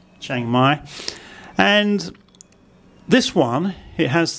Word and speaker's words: Chiang Mai: So we get Chiang Mai, and the tone, if this becomes high class because of hoar heap, and it has the first tone mark, it becomes a low tone, Chiang Mai.